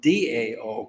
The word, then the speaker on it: Dao: happening and uh the da spell Tao it's they're moving toward pronouncing spelling it Dao because that's closer to the way they say it so it it may